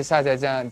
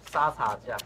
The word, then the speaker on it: 沙茶酱: 没有，我刚问你，我是虾茶酱，但是我发音不好，对不起。哦，没关系，沙茶酱。沙茶酱。